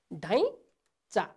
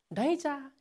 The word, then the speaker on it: ढैँचा: अर्को शब्द हेर्नुहोस् त, ढैँचा हो, कसरी उच्चारण गर्ने यसलाई? ढैँचा, ढैँचा, यसरी हामीले उच्चारण गर्नुपर्छ।